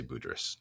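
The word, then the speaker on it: Budrys: sees an aldis budrus am i pronouncing that name right that's how high allies have but i have heard people who seem like they should know say it differently but most people i've heard say budris yeah that's his name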